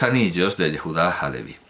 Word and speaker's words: Halevi: Pensemos en el cuento sobre la herencia de 3 anillos de Yehudá Halevi. O Alevi, porque no pronuncian la H en hebreo moderno, pero bueno, Yehudá Halevi.